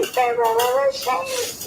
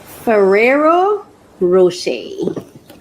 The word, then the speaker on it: Ferrero Rocher: So the first thing I'm going to share with you is my Ferro Rocher. That's how is that how it's pronounced? Ferrero Rocher.